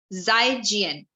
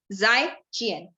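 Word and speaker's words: 再见: So the word for goodbye is called as Zaijian. Okay. The word is Zaijian. Karan, can you repeat after me the word Zaijian? Zaijian. So the pronunciation of Z will be J with dot wala, बिंदी वाला जो हम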